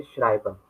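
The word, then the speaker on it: Schreiber: आपके right hand side जो भी लेटर होगा, चाहे वो ई हो तो ई प्रोनाउंस होगा इंग्लिश का, अगर आई है देन आई प्रोनाउंसिएशन होगा, जैसे श्राइबर।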